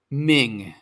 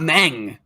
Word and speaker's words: Meng: the way it's pronounced it's spelled m-e-n-g but it's Ming not mang but anyways compare them